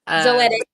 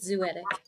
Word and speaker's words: Zoetic: um sick Lake music zoetic productions zotic did I not say it right said zoetic zo zo excuse me